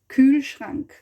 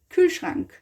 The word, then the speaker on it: Kühlschrank: We haven't pronounced it like in detail, but Kühlschrank. Kühlschrank. Schrank. It's also the R in the back somehow, you know.